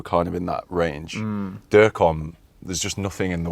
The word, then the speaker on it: Durkom: Durkom. Durkom. That's what I go by. Yeah, I just didn't know how to pronounce it.